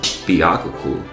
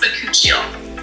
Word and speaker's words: bakuchiol: Vacuole. It's pronounced bakuchiol.